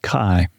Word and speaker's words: Kaai: 23 years yes sir it's pronounced Kai Kai well that's Hawaiian name okay born in Oklahoma